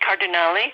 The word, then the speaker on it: Cardinale: um uh Claud cardali it's pronounced with the e cardali card um she it was